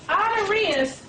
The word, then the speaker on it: Honorius: r i u s and I'm spelling it out because it doesn't really sound like it's spelled ordained the Templars as the